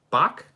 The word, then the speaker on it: Park: you for that clarification park is pronounced bach it's bach jimin i never heard that